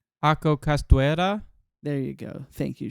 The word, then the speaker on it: Ako Castuera: So it was written by two separate people, Akko God damn it, I'm saying her name wrong. Ako Castuera.